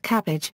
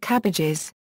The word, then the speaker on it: CABG: The most frequently used acronym for this type of surgery is CABG, pronounced cabbage, pluralized as CABGs, pronounced cabbages.